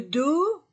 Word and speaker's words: dos: et S le corps le dos je ne prononce pas la lettre S le membre le pied